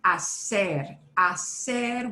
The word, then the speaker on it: hacer: And that word hacer, we've got to ignore the H, right?